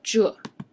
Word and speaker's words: 这: So spell like Z-H-E. Okay, Z-H-E, 这.